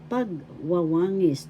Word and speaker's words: pagwawangis: Pagwawangis, that means comparison in English as well. First syllable pag, second syllable wa, third syllable wa, fourth syllable ngis. Pagwawangis. The third syllable has the accent.